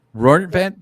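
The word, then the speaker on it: Rortvedt: Oh, I I say rotvet. I don't know. Rorvette. That That's the correct way.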